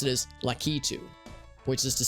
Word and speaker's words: Lakitu: apparently pronounce it as lucky to which is to say emphasis on the key and not the two like a two a